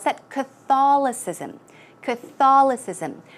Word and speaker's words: Catholicism: you would pronounce that Catholicism Crystalis ISM the stress goes right there Catholicism it's difficult and then